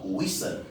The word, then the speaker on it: whistle: En d'autres termes, ça veut tout simplement dire que lorsqu'un mot se termine par STLE, le T ne sera jamais prononcé. STLE en fin de mot sera prononcé seul.